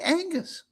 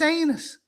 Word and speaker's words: Anus: She called me Angus. She must have got the memo that it's anus.